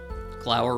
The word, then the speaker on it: Glower: Glower rhymes with flower.